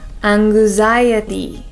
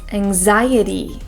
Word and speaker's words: anxiety: people pronounce this as aniy but in English it's anxiety so for that first Ang sound we want to have our mouths open wide this way and this